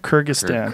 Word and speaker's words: Kyrgyzstan: Yeah, how do you say that? Kyrgyzstan. Kyrgyzstan. I think it's Kyrgyzstan. Okay. Silent Z.